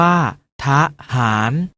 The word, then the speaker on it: ทหาร: เสียง อะ กึ่ง เสียง เช่น ทหาร ออก เสียง ว่า ทหาร ถนน ออก เสียง ว่า